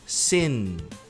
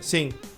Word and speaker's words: sin: Sen termina com n. Sen. Muita gente pronuncia sim. Sim. Aí parece que você tá falando o verbo cantar, tá?